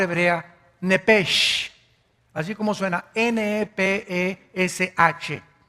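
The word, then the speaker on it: נפש: nepesh, así como suena, n e p e s h, nepesh. La palabra, la letra o las letras s h en el hebreo se pronuncian en hebreo como j, entonces, se pronuncia nepesh.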